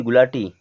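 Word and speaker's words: guilty: क्या होता है जीभ जी यू आई एल टी वाई क्या पढ़ेंगे गुलती गुलाटी यहां पर यू हो जाएगा साइलेंट क्योंकि यू के बाद में आई आ रहा है और आई हमारा वावेल है और अब इसे पढ़ेंगे गिल्टी क्या पढ़ेंगे गिल्टी यहां लिखा है जी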